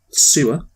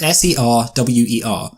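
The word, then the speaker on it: Serwer: called sewer se w/e how would you pronounce that yes Ser wer I've announced it sir well because otherwise people will think just things sewer like is in like the place where goes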